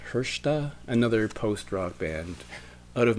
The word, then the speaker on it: Hrsta: And then we have to go back to Montreal for a band called, I'll show you the inch, it's spelled HRSTA and it's pronounced Hershta, another post-rock band out of Montreal.